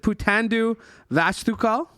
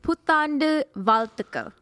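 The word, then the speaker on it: புத்தாண்டு வாழ்த்துகள்: Putandu Vastukal? No. Okay. It's Putandu Valtukal. Okay, never mind. So the ZH is like an L.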